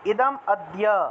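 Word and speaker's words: ইদমদ্য: 14 উচ্চারণটা কিভাবে হবে ইদাম্যা উচ্চারণ হবে ইদাম আদ্য এই যে মটা আছে না ম এর জন্য অ চলে আসলো ইদাম আদ্য মায়া লব্ধা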